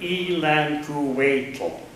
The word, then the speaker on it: Ilanquapo: "It sounds like Ilanquapo," Sarah pronounced the word slowly and carefully. Ilanquapo smiled back and then with a poofing sound, transformed into a queen relaxing on her throat. "Yes, that is correct.